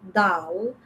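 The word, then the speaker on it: دال: Then the next one is dal. Dal pronounced from the edge of the tongue touching the front teeth, touching the gums of two front teeth, like da, dal, dal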